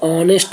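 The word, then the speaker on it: honest: एच किसम silent होगा एच ऑनेस्ट में साइलेंट होता है जिसको नेस्ट नहीं बोलते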